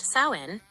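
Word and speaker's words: Samhain: Halloween originated from the ancient Celtic festival of Sam Hane, pronounced sain, over 2,000 years ago in what is now Ireland, the UK, and Northern France.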